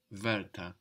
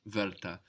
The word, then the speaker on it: Wörter: Word sounds like Wörter, the same vowel, word, bird, Wörter.